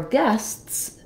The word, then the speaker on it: guests: then for guests uh the word guest ends with the T sound so we simply add the S sound guests um I say simply but it's not always easy and simple to pronounce this because it ends with s TS and we need to make all three sounds or we won't be